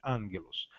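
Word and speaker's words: ἄγγελος: som dna gay nos quando eu tenho dois gps dos gamas anguloso é o primeiro já se torna n pronúncia am anunciasse ângelus b o seta se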